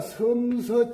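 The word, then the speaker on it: 陝西: 그런데 이자 글자를 참, 이자는 원래 중국 발음으로는 산인데, 우리도 산으로 적다가 보면은 이자하고 여기 지역을 구별하기 위해서 우리나라에서 특별히 이자만은 섬으로 이렇게 읽습니다.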